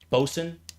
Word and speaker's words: boatswain: Boatsw boatswain. How do you pronounce that? Bosen.